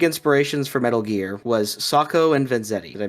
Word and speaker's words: Sacco and Vanzetti: One of the big inspirations for Metal Gear was Sacco and Vanzetti. Did I mispronounce that, Joe? Sacco and Vanzetti, yeah, that's good.